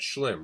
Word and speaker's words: Slim: let's check out how do you say that his name slim I always forget slim right yes he's gonna take it